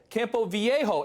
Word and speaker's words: Campo Viejo: Is it Campo Viejo? Viejo. Campo Viejo.